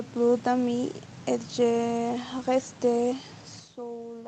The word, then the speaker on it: seule: La E y la U es una vocal compuesta igual y se pronuncia como E, como una E fermée, más o menos. E, seul. D'accord.